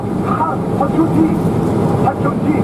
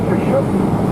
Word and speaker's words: Khashoggi: If he gets with a K, Hashoji. If you wanted to pronounce it, Hashoji, spell it Hashoji. All right? And if you want to pronounce Khashoggi, as we've been pronouncing the name Khashoggi since 1977, then let's go ahead